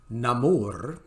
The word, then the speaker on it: Namor: um now of course they would prefer that you call him namur and I can do that pronunciation and sometimes I will